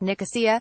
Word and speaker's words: Nicosia: not to Cyprus but I think they pronounce it Nicosia Ellis said with an emphasis on the Oh later in the day